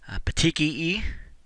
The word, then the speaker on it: petechia: circumscribed area this again see the next one petechia is how that word is pronounced these are very very small pinpoint bleeds